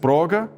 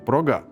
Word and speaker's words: próga: For example, some will say próga, others progà “occasion”, some - buĩtinis, others - buitìnis “domestic”, some - prãdininkas , others - pradiniñkas “a founder”.